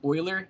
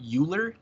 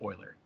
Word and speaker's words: Euler: also for the record it is pronounced Oiler not uler like e wle r again Swiss right so if you pronounce it uler f just immediate F in my class it's Oiler pronounce it Oiler again